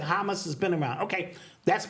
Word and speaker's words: Hamas: I think it's pronounced Hamas. Hamas. Oh, okay, got you. Hamas. Say hummus, whatever.